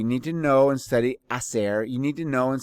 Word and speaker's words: hacer: Hacer is a really useful verb to use because we're always asking, what did you do over the weekend? And so this is the verb. Remember, the H is silent.